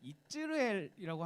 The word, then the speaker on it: 이스르엘: 이게 한글 성경에 이스라엘이라고 되어 있는데 이츠르엘이라고 하면 조금 더 정확할 것 같아요. 이츠르엘. 그러면 우리가 이스라엘이랑 발음이 좀 비슷하죠. 이스라엘.